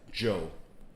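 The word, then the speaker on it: Zhou: how to pronounce that joe joe you z z-h-o-u is joe since you like the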